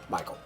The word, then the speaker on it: M. Weichel: Or, you know, if you pronounce it as it's supposed to be, I suppose. It's Michael.